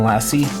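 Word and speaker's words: LaCie: a good hard drive I would definitely recommend lassie it's spelled la CIE they make really good drives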